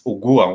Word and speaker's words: ugua: I'm just trying to give some parallel, but it's ugua. When you pronounce it, when you pronounce a U in Swahili, it's u.